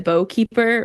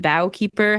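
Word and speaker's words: Boughkeeper: the Twilight Sword and the Bowkeeper or the Bowkeeper, however you want to pronounce it. It's B O U G H.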